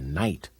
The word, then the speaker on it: night: on us in the night this is the word night doesn't look like it sounds let's turn some light